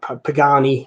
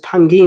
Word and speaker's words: Pagani: I'll be grateful and see the Penguins are Pagani I should say I don't know you pronounce it Pengy nah Pagani and they say when I say